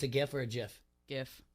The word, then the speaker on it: GIF: GIF. Hard G.